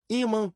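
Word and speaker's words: ímã: correta a imã órgão as palavras paroxítonas possuem a penúltima sílaba tônica iman sílaba tônica I órgão sílaba tônica or pergunta 11 Qual é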